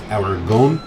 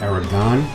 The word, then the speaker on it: Aragón: I did look up to see how to properly pronounce it. It's Aragón, not Aragon.